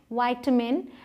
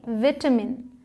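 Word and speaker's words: vitamin: होता है पोशाक तत्व इसकी दो प्रनंसीएशंस हैं बट विटामिन नहीं है इसकी प्रनंसीएशन या तो विटामिन आप बोले या तो विटामिन बोले हैं विटामिन है उस मतलब अमेरिकन इंग्लिश में विटामिन और ब्रिटिश में विटामिन ठीक है आप दोनों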